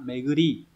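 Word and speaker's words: 巡り: Đây là chữ tuần đúng không? Đọc là meguri.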